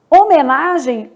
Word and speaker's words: homenagem: dígrafo marcado pelo S homenagem o h não é pronunciado aliás o h nunca é pronunciado né nem no nem